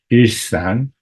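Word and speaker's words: 일상: number four is uh what we would pronounce in Korean isan and it means just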